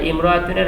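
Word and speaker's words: امرأة: এরপরে বলা আছে ইমরাতুন, ইমরাতুন শব্দ, এই যে এখানে তো আমাদেরকে একটা কায়দা শেখালো যে কোনো শব্দ যদি ইমরাতুনের আগে আসে তাহলে ইমরাতুনের হামজাটি লেখায় আসে কিন্তু উচ্চারণে আসে না।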